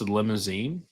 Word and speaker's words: Limousin: I mean, we got LIM and then basically, the leftovers of cousin. So I'm like, yes, Limousine.